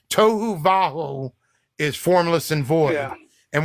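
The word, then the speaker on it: tohu vavohu: of the deep and the that's how it's pronounced toou vaju is formless and void and when you translate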